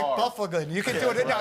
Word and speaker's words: Byfuglien: Byfuglien. I always say his name. It's Byfuglien. It's Byfuglien. I always want to call him. Look at his name. It's like Byfuglien.